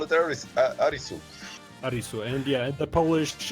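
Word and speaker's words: アリス: hard geny I know how do the Japanese pronounce it Alis arisu just call it arisu arisu and yeah the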